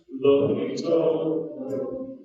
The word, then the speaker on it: Loh: Ito Lo, and with, now I'm going to try to get it right, Ito, Lo, okay, say that, Lo, sounds good.